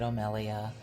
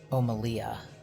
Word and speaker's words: O'Melia: So I know I feel bad because I wonder if the name is pronounced Omelia. It's Melia.